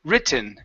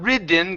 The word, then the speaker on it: written: related not ridden gimme there's only two ways to pronounce this ok we can pronounce a and normal t written or a stop T written okay we cannot say ridden because that means like you're riding on a horse okay so so it's